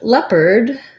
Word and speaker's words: leopard: the word leopard and leopard is definitely confusing in terms of the vowel letters versus the sounds because we don't really have um the sounds in leopard there's just two vowel sounds first of all we have the red tent vowel in that first syllable and la lep is stressed lap and perd is unstressed the letters ar say